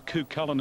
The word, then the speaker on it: Coo Cullen: Certainly does, but I'm going for the one resuming, number 4, Coo Cullen is the pronunciation, number 4, Coo Cullen